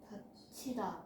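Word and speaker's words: 닫히다: 다치다. 다치다로 발음되지. 그러면은 가장 먼저 얘는 추격이 먼저 일어나겠다. 다 t다. 그렇죠? 여기서 축약 먼저 해 주시고 그다음에 다 치다 요거 발음을 해 주면 되겠다.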